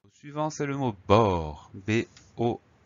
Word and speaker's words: bord: Le mot suivant, c'est le mot bord, B-O-R-D. Et oui, on a une petite lettre muette à la fin.